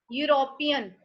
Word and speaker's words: European: European. European start with e. European. European. But its pronunciation is u.